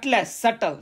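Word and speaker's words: subtle: इट अप एली एंड फलीली इसको बोलते स सटल सटले बी साइलेंट ट क बस दिस ड ऑ ल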